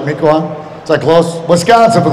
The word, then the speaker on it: Mequon: You guys know how to pronounce that, right, Mequon?